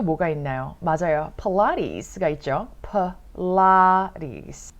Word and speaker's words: Pilates: 필라테스. 필라테스. 필라테스. Pilates 이렇게 발음을 하실 수가 있어요.